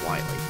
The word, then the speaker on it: Wily: i don't know why i used to call him doctor willie because how are you because i just spell it but it's two else then it's willie and then one l is wiley all right then all